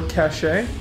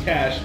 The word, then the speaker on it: cache: Cash or cashache? Yeah. How do you say it? It's tempting to pronounce this.